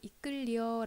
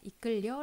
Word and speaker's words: 이끌리어: 이끌리어 인데요 우리 며 이끌리어 라고도 하지만 이끌려 라고 발음을 더 많이 하 죠 나머지는 똑같은데 만